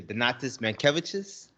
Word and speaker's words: Donatas Mankevicius: Donatas Mankevicius and a Miss Laura Bružauskaitė.